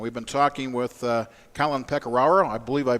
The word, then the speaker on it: Pecoraro: And we've been talking with Collin Pecoraro. I believe I pronounced that right, yep, right?